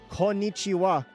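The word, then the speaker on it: こんにちは: Konnichiwa.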